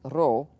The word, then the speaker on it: Rho: that looks like a P but it's actually pronounced role Rho is the only consonant which takes a